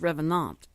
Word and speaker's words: Revenant: CU I want to know how do you pronounce Revenant and it came back and said it's Revenant it's was a French word and it meant